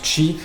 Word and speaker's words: Qi: jeane la norme chimici qui s'écrit qi donc qui met qui se prononce chi donc ça c'était déjà